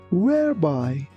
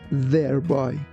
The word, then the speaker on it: whereby: When you pronounce the letter W, be careful that your lips shouldn't touch each other. That's why we don't say thereby. We say whereby.